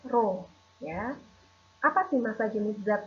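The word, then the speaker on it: ρ: dengan seperti ini ya seperti huruf P nah ini dibacanya rohnya apa sih massa jenis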